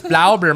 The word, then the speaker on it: Blaubeer: So I know how to say it's Blaubeer muffins. That's how you say blueberry muffins in German.